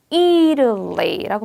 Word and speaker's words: Italy: 그래서 Italy라고 발음됩니다.